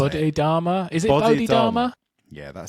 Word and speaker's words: Bodhidharma: Is it Bodhidharma?